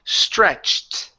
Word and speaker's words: stretched: here the word is stretched stretched this now give me a tea at the very end stretched slits okay you're